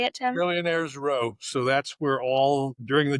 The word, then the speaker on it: Millionaires Row: And I think it's at Million Miler Row. Is that how you say it, Tim? Millionaires Row.